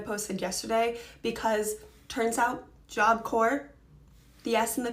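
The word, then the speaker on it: Job Corps: the video I posted yesterday because turns out job core the yes in the P are silent I had no idea and I've been mispronouncing that my entire life so thanks for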